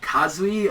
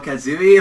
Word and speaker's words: Kazui: He married Orihime after this and had a little kid, which I guess, like, his name Kazui or Kazui, like, is the way to pronounce it.